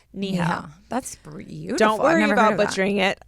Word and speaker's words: Neha: and parenthesis she put it's pronounced knee health so it's any - HDL so Neha that's don't worry butchering